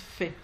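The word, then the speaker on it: פ: Sans dagesh, il se prononce fait.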